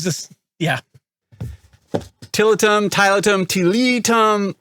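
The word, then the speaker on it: Tiletum: yeah tillotum Tyler Tom tillitum we've had a lot of people give us different pronunciations I say title them so whatever I decided to let them so it is what it is yeah so this is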